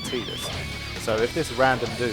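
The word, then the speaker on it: Tidus: pronunciation actually occurred, because there was no official pronunciation for Titus until the person who did the voiceover for the first trailer kind of got the script. He didn't get any kind of like official word from the other side about how he should pronounce it. He took a look at the script, and instead of pronouncing it Titus, he pronounced it Titus.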